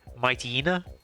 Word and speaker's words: Mightyena: The golden dog, my Mightyena or mighta. I always pronounce it mighta, but I know it's based off a hyena. So, I guess you could also say mightina.